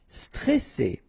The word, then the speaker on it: stressé: Okay, remember you get double S here, so you pronounce it really strong while it's between two vowels. So C, alright, and then here you get this E before the double S, so it will open the pronunciation of the E.